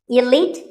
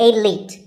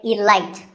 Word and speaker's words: elite: Actually, there are two correct pronunciations, elite and elite. Both are okay, but just don't say elite. There's no light in elite.